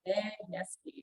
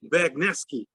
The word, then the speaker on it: Bagniewski: Bagniewski. Bagniewski. Okay. Now I know how to pronounce it correctly.